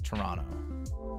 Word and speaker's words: Toronto: I will be taking a trip to Toronto. You're not supposed to pronounce the second T. It's Toronto.